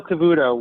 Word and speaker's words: Cavuto: how do you say his last name neil cavuto was um yes all the networks were covering